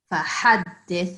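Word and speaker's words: فحدث: فَحَدِّثْ, it's that thick ha.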